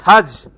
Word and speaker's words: Hajj: It's Hajj!